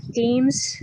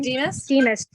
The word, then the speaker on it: Demas: But Helen Deems, is that how you say her name? Demas.